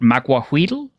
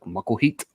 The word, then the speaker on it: Macuahuitl: Sometimes so I've heard people pronounce it with the L kind of being like a hard kind of stop. So it'd be like Mucklheat.